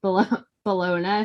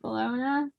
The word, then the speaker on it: Bologna: unambiguous evidence of tarot as divination appeared in Bologna sometime. Is that how you say it? Bologna? No, it's not Bologna. But like I think Bologna. The Italian city of Bologna.